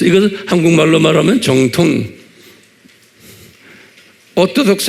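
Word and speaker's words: Orthodox: 그래서 그냥 오토독스, 이것을 한국말로 말하면 정통. 오토독스 한번 발음해 보세요. 오토독스. 액센트가 있어요. 오토독스 그래야 돼. 예, 오토독스 그러면 안 돼. 그럼 못 알아들어요. 오토독스 그래야 돼요.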